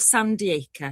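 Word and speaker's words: Sandiacre: This is Misbehaving and as per now new doicile rules, I'm living in a little town called Sandy Die. It's all one word and it's spelled S A N D I A C R E just slightly west of Nottingham.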